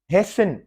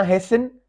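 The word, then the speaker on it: hasten: हेसिन, कोई जल्दी करना, हेसिन।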